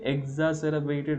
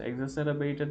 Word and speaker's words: exacerbate: কিন্তু এখন কোভিড-19 এর পরে এই যে চ্যালেঞ্জগুলো সব কিছুই এক্সাসেরাবেটেড হয়ে গেছে। এক্সাসেরাবেটেড মানে হচ্ছে বর্ধিত বা বেড়ে যাওয়া, ইনক্রিজ। ঠিক আছে, এক্সাসেরাবেট উচ্চারণটা একটু শুনে রাখেন সবাই।